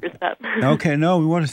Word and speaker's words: Rousselle: your last name is Rousselle, right? Rousselle, actually, with more of a U sound. Rousselle.